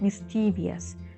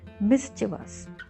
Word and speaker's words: mischievous: were some mischievous not mischievous mischievous okay mischievous boys letter s has z sound mischu was boys bathing